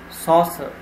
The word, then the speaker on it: saucer: The next word is saucer. Saucer is a noun, so the stress would be at the first syllable.